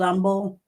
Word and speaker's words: Humble: by today he uh on YouTube he's old umble distillery in old umble Texas and uh oh humble okay yeah so humble hu mb le Oh, not humble.